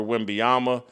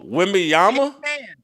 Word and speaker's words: Wembanyama: It has been resurrected by Victor Wembanyama.